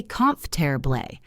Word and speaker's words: comfortable: It looks like comfortable, but we say comfortable. 3 syllables, or vegetable.